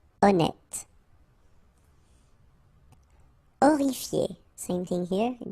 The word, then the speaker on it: honnête: Honnête. So remember, H doesn't exist. Honnête.